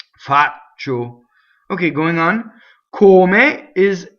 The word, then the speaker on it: faccio: See, so it's ci is just the eyes. They're just to soften the ch, right? The c. Faccio.